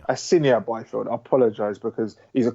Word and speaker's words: Asinia Byfield: I'd have to say Cheeseman and Asayan Byfield. Is that how you pronounce it? Asinia Byfield.